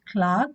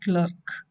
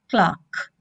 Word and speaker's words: clerk: and a counter clock this to be pronounced clark not clerk okay the correct pronunciation pronunciation is clark all right okay student